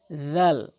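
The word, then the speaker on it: ذال: বলেন বলতে হবে জাল জিহ্বার আগা সামনে দুটি দাঁতের আগাছা মত উচ্চারণ সার মত নিয়ম জাল জাল জাল তাহলে তাটি দালের মতছাটি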